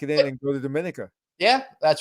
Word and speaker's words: Dominica: in and go to dominica yeah that's right all right everybody thank you dominic or dominica uh it's dominica okay we are us new yorkers we're saying dominican you see right now